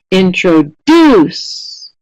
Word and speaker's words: introduce: Which syllable is getting the most stress? First, second, or third? Introduce. Excellent. The vast majority, almost all of you, are saying pattern C, and that is correct. It's the last syllable that is getting the most stress in this word.